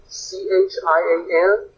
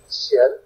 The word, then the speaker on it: qian: So, remember, pinyin is a little bit funky, so qian is actually chian. You would pronounce it as if it was spelled chian, qian.